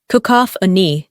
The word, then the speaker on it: cacophony: let's talk about sound the word is cacophony pronounced kakop an it refers to a